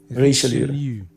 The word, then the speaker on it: Richelieu: How do you pronounce it correctly, though? Richelieu.